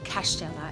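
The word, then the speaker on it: Kaštela: a town of castella cash Stella is pronounced as cash like Pella and it's a castle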